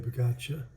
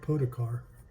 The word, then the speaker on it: Pogačar: yellow jersey being on the shoulders of Tadej Pogačar. Took me forever to learn how to say his name. Because it looks like Podokar.